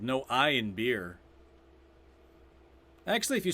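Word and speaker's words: Bier: It's called No I in Beer. Actually, if you spell it the way they do in Germany, it's B-I-E-R. In German, I think it's beer.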